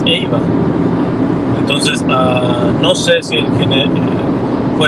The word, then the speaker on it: Ava: Podría ser, podría ser, porque sí es curioso que se llamaba Ava, pero cuando se pronuncia en inglés es Eva.